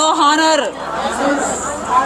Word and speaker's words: honor: H is silent, no honor.